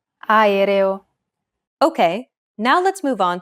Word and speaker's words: aereo: Even when there are 2 or more vowels in a row, just pronounce them separately. Aereo.